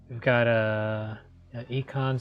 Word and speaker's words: Ekans: So yeah, we've got Econ's Arbok. Guns. I don't know how to say it. Ekans. Ekans. He's an econ major. It It is Ekans, though. It's just snake backwards.